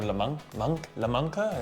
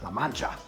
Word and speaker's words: La Mancha: we have Manchego from La Mancha, or La Manca, I'm not sure how to say it properly. La Mancha. La Mancha.